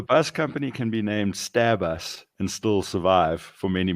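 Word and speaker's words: Stabus: they're called starbucks but it's spelt one word no spaces hyphens or anything to help clarify it's s-t-a-b-u-s stab us and stab us have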